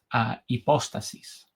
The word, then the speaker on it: hipóstasis: Hipóstasis significa persona en griego y así se pronuncia en griego, a hipóstasis.